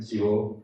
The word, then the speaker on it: Thibaud: All right, hi, I'm Thibaud, pronounced him.